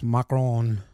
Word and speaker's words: macaron: Anyway, he goes macaron. That's how you say it.